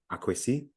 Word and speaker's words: Akwesi: is if you're deep in the forest is Akwesi, is an A in front of the K, right? Akwesi. But in other areas it just be Kwesi, and on the coast it's Kwesi spelled with an E rather than an A, so it's Kwesi.